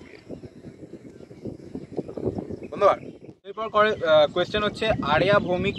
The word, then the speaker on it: Arya: এরপর কোয়েশ্চেন হচ্ছে আরিয়া ভৌমিক, যতদূর সম্ভব প্রোনাউন্সিয়েশনটা ARYA, তো আরিয়া ভৌমিক 237, যাই হোক।